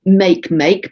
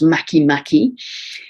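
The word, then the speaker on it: Makemake: um this copper belt object before spelt spelled make make but it's pronounced mackie mackie at eight degrees of libra now makimaki is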